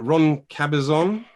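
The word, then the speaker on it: Ron Cabezón: festival we've got how do you say it ron cabezon that's correct girl so that's a good start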